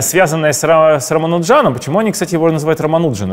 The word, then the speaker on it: Рамануджан: сжатом Почему они Кстати романуджин это разве правильно ударение фильм фильмы сегодня романул Джон Хотя Казалось бы все индийские фамилии они на последние Да слог не знаю когда я